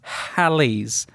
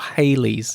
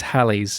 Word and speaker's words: Halley's: i call most people it's halley's not hayley's i've always thought you were mispronouncing it no it is halley's named after sir edmund halley who predicted its return